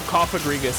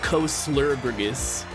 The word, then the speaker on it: Cofagrigus: They better have Cofagrigus as the pronunciation. And not Coslurgrigus.